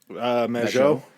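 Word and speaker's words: Mageau: How did you pronounce his last name? Majot.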